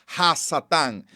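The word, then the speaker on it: השטן: Satanás que aparece aquí es una palabra aramea que se pronuncia hassata y en el hebreo hassatán el artículo cuando dice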